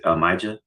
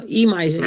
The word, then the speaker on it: Emaja: Is it Maja? Oh, because you can hear me still? Emaja, yes. Emaja, I'm sorry.